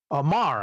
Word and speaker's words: Maher: letters by VC's Ariana Mar, actually. You know, we actually, I think I decided unilaterally that we were going to pronounce it like Bill Maher.